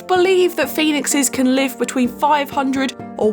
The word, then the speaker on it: phoenix: from the Latin word phoenix. Well, it is technically pronounced the same way, but it's spelt differently. It's Phenix.